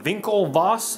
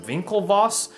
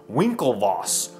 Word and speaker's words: Winklevoss: But do you remember the Facebook movie the Vinklevos? I think you pronounce her name. Winklevoss. Winklevoss. Winkle with a W.